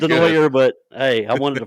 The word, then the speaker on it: Denoyer: Hey, I pronounced it like Henrique, man. I know it's Denoyer, but hey, I wanted to follow my man's footsteps.